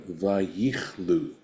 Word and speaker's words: vayichlu: Umilashon vayichlu bechirik, and this would be then pronounced vayichlu, which means to come to an end, right?